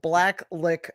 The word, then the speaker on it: Blacklick: You can't say it like, you have to say like Blacklick, Ohio. You have to say it like that. Blacklick, Ohio.